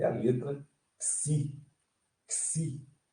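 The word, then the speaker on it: ξῖ: Xi, como na pronúncia de táxi. Táxi. Se vocês eliminarem esse tá aqui, ó, essa sílaba aqui, deixar só isso aqui, é o nome da letra.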